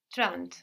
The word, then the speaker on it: trente: So the N doesn't just disappear, it gets swallowed into the nose a bit, and that affects the vowel before. We see trente is spelled with an E, but we hear something more like an A in trente.